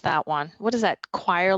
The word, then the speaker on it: Cuire: Choir, like singing in the choir? Well, it's spelled CUIRE. Okay.